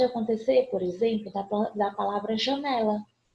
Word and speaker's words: janela: Mas pode acontecer, por exemplo, da palavra janela. Janela. Eu vou ter essa penúltima sílaba tônica e ela não é acentuada.